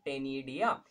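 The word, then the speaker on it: ctenidia: Gills या उसका दूसरा नाम है टेनिडिया, सी साइलेंट रहता है इसको टेनिडिया पढ़ते हैं।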